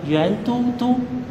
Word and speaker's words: Yuandudu: La prononciation chinoise s'appelle Yuan Doudou.